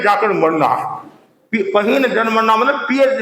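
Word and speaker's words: पहीणजरमरणा: की अनुभूति होगी और बोलना तो है पहीन जन मरना पहीन जन मरना और आप बोलते हैं पियर में जाकर मरना पियर में जाकर मरना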